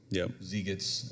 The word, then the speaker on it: Zeitgeist: So again, as they rattle off these data points in Religulous and Dan Brown's Da Vinci Code and Zeitgeist or Zeitgeist, as some might pronounce it.